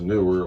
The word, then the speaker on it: Neewer: little bit of a review on uh the newer that's the way it's pronounced newer light box uh this item I just purchased